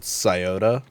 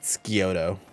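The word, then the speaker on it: Scioto: can do bruh this there's a area here in Ohio called scota there's like the scota river and uh scota downs and all that a lot of people not from here will pronounce it skoto so what do you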